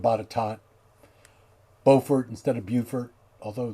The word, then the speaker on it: Botetourt: You can always tell when somebody's not from somewhere when they start saying words like Staunton instead of Stanton, Botetourt instead of Botetot, Beaufort instead of Beaufort,